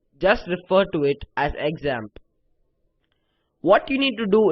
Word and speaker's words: XAMPP: use something called examp you can also call it zamp and that's how it's supposed to be pronounced however I'll just refer to it as examp what you need to